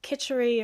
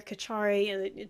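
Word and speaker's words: kitchari: Um, and I mean I'm quite interested in the the iovedic version of it which would do like kitery or kachari different ways of of pronouncing it but effectively working with really simple really well cooked.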